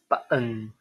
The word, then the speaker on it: button: Instead of pronounce these words button, I think most of American English speaker would pronounce it as button, right? This glottal stop is the sound in button.